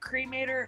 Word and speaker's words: Cretor: Am I pronouncing that right? Yeah. Like a cremate. So I met Cretor, and oh God, he's